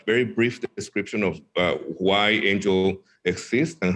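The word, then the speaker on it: Aingle: you with angel uh it's spelled a-i-n-g-l-e that's not a mistake but it's pronounced angel and the name is very appropriate because it represents messaging messengers so angel is about messaging it's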